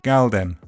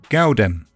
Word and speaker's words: galdem: Their spellings with D reflect their pronunciations, mandem and galdem. But in London, the L in galdem is pronounced oo, gaudem.